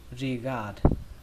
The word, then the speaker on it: regard: Âm đầu tiên các bạn đọc là rì trong chữ rì rào, rì gạt, rì gạt, rì gạt.